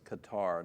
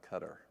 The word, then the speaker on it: Qatar: Johnny says it's Qatar, not Qatar. That's how they pronounced it when you were there.